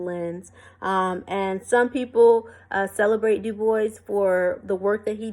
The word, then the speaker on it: Du Bois: Some people say Du Bois, but Du Bois said that you pronounce his name Du Bois.